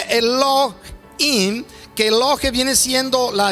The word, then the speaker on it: Elohim: La expresión ahí Dios es Elohim, que se pronuncia Elohim, que Elohe viene siendo la expresión Dios, y